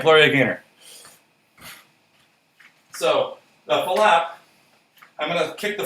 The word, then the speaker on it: flap: going to be a flap. Spelled F-L-A-P, but with 2 syllables, so flap.